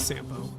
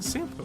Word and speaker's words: Sampo: reached I just realized he even says sampo I think I've been saying sample wrong all the time I've